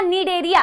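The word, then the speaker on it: Cnidaria: बेटा देखो क्या बोला मैंने, सीलेंट्रेटा या नीडेरिया, ये बोर्ड में थोड़ी प्रॉब्लम हो रही है नीडेरिया लिखने में, ठीक है। सीलेंट्रेटा या नीडेरिया, इसको बेटा नीडेरिया नहीं बोलना है, ठीक है, ठीक है, सी साइलेंट है, नीडेरिया या फिर सीलेंट्रेटा,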